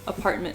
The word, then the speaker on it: apartment: Apartment. I guess that's the same sound. It's just shorter. Yeah. Apartment. Yeah, I guess you don't really hear the T at the end.